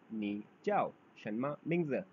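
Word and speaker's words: 你叫什么名字: इसको प्रोनाउंस करने का तरीका है नी चाओ शनमा मिंग्ज। Very good. हाँ, मेरे साथ फिर से प्रोनाउंस कीजिए आप लोग, नी चाओ शनमा मिंग्ज।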